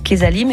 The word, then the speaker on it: Quezalim: de ce qu'on peut retrouver sur la plateforme Kesalim, et puis on va voir comment ça fonctionne aussi. Kesalim, je le rappelle, ça s'écrit Q-U-E-Z-A-L-I-M.